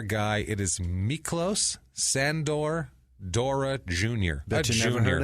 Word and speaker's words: Dora: Better known as Mickey Dora. Okay. Mickey Dora. He's a surfer. D-O-R-A? D-O-R-A, like the explorer.